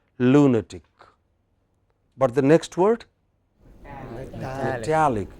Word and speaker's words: lunatic: By that rule, it should have been lunatic, but this is an exception. There are 1 or 2 exceptions. I will tell you more about them. So, this is pronounced as lunatic.